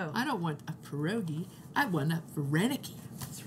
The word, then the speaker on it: pierogi: And the plural is with an I at the end. No I-E. No. So it's like pierog, if yes. you want one, and it's pierogi for yes.